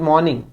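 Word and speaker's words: morning: good मॉर्निंग और good मॉर्निंग नहीं बोलना यह थोड़ा अलग गुड मॉर्निंग आर को साइलेंट रखना है गुड मॉर्निंग मैं या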